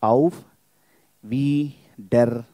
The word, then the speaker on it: Auf Wiedersehen: And how you can pronounce it, there's breaking Auf Wiedersehen. Five breakings, five sounds.